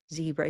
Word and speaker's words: zebra: What color is zebra? Z-E-E-E, zebra. You could just ask yourself while I adjust to see all of you here. Good. So green, exactly. Green tea zebra.